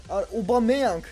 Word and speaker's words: Aubameyang: Evet, yeni transferimiz Aubameyang diye okunuyormuş.